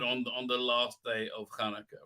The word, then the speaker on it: Hanukkah: Hanukkah is how you say it.